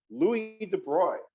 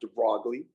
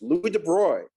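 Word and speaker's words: Louis de Broglie: Louie de Bruy is how you pronounce that name. It's not Degley, it's Louis De Bruy.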